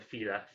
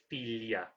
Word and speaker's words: filia: So we have a filia rather than fila, filia.